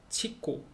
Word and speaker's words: chico: CH 자체가 이제 채, 치읓 발음이 돼요. 그래서 CHICO, 치코, 치코, 치코, 체계, 체계는 수표, 수표, 체계.